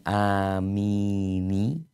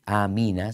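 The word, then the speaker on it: آمين: Amin, tidak disambung ya. Kalau dia terpaksa mau nyambung, maka difathahkan. Bukan amini, tapi jadi nanti amina sebagaimana disebutkan si kaifa ya, aina, tidak mungkin dikasroh karena beratnya pelafalan kasroh setelah ya. Kaifi itu berat, jadi disebutnya kaifa.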